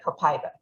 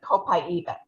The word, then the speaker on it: Copaiba: So when they first introduced it at convention, they were calling it Copaiba. Since then, people who speak Portuguese have been saying that it is, the Brazilians pronounce it Copaiba. So in my opinion, either pronunciation is correct, and I will know what you're talking about.